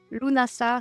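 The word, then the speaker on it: Lughnasadh: imbolk et Lunas LNAs vous allez m'entendre le prononcer plein de façons différentes lunasa c'est la version juste et lunasa c'est des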